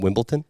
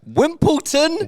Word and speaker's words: Wimbledon: back from did you guys get back from Wimbledon yeah Wimbleton Wimbledon Wimbledon Wimbledon that's not it Wimbledon at